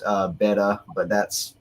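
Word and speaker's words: Bede: have been pronounced uh beta but that's like saying tacus and I'm not going to do it the venerable bead because that's how it's spelled um was a North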